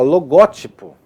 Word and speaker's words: logótipo: Há vocábulos que admitem mais de uma pronúncia, porém sem que lhes altere o sentido. Então, por exemplo, ó, logótipo. Logótipo é muito ruim de falar, né? Né? logótipo, mas pode logotipo não, o logotipo é o mais comum.